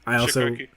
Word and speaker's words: Cichocki: That's at DA Chikoki, but nobody knows how to pronounce Chikoki, so I just spell it out. Chikoki.